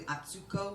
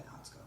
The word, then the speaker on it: Atsuko: So it's technically Atsuko, but she goes by Otsko.